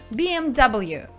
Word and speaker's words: BMW: очень короткий акроним поэтому по-английски все эти три буквы будут произноситься полностью б.м. w bmw а гроулер это уже